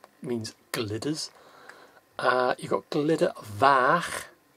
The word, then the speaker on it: Glyder Fach: which is the means Glitters uh you got glitter vac f a c h now the f is pronounced as if if you say in a